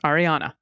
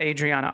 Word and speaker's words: Ariana: realized I did it I keep mixing up her name it's Ariana so no one write into correction it's Ariana Dubose Ariana Ariana not Adriana Ariana so no need just